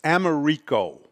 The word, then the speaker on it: Americo: Spelled with an O, America with an O. It's Americo. Americo.